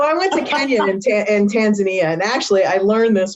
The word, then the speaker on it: Tanzania: went to kenya in tanzania and actually i learned this while i was there that it's actually called tanzania not tanzania not tanzania so it's